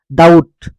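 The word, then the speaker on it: doubt: হওক বা মাজতেই হওক বিটি থাকিলে আমি এই বিটিটো কি বিটো আমি সাইলেন্ট হয় আৰু টি আখৰটোহে উচ্চাৰণ কৰা হয় যেনেকৈ ডেট ডাউট এনেকুৱা ধৰণৰ ডিইউটি ডাউট বিটো একেবাৰে নাই বুলি ধৰিব বিটো সাইলেন্ট হৈ থাকিব ইয়াৰ উচ্চাৰণ নহয় ডিইউটি ডাউট ডিইউবিটি ডাউট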